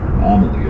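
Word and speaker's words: Amalie: venue right uh the Amal Arena Arena yeah yeah amaly oh I said it wrong the entire time but we were here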